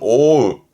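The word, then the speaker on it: 覆う: 뜻으로 쓰게 되면 뒤에 우가 나올 때 발음은 오우, 오우.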